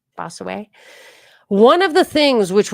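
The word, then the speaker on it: Bossuet: We will give a quotation from Bosu B O S U T Duet Bosuet. You wouldn't pronounce the Bosway.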